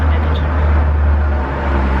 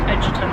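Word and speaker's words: Egerton: It's pronounced Edgerton. No. I watched an interview with him and he was like, oh, it's pronounced Edgerton, by the way.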